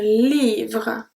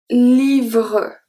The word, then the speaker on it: livre: And finally, un livre. Un livre. So sometimes, because of the natural pronunciation, it can seem that we pronounce the E at the end, but we actually don't.